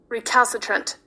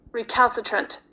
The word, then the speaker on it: recalcitrant: And the last word is spelled r e c a l c i t r a n t.